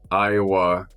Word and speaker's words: Aiwa: Iowa TP 37.